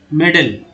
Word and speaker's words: medal: जैसे एम, ठीक है, एम है और MEDAL, यहाँ पर ए का उच्चारण क्या हो रहा है, ए, गलत, ऐसा नहीं हो सकता। तो ए का उच्चारण सिर्फ ए यहाँ नहीं हो रहा है, बल्कि यहाँ ए का उच्चारण अ हो रहा है, मेडल, ना कि मेडल बोला जा रहा है, मेडल बोला जाता है, ठीक है, इस